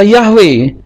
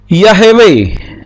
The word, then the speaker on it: Yahweh: ini supaya hannya mati tetapi ini juga tidak bisa dibaca yahwe tetapi yahewe ya tidak bisa dibaca yahwe tapi yahewe kenapa karena dibaca yahwe